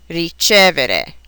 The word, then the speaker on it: ricevere: Many, but not all, of these verbs are accented on the syllable that precedes the next to the last. Here are some examples: credere, vendere, rispondere, ricevere.